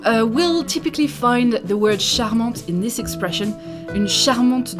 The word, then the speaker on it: charmant: at the end and you are going to pronounce this charmant with the masculine version and with the feminine you are going to pronounce it because there is an e at the end so charmant and again here it means cute charming for